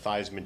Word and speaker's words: Theismann: And Colette actually threw out there, she said that Theismann changed the pronunciation of his name to rhyme with trophy. So Heisman, Theismann, trophy.